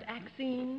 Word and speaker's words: Axine: Is it pronounced Axine? Yes, ma'am. How do you do?